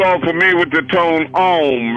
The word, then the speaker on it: Om: All of you are familiar with the tone Om, right? You can spell it A-U-M or O-M, but Om.